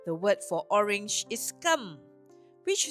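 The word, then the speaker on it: 柑: In Chinese, the word for orange is kam, which sounds like the word for gold.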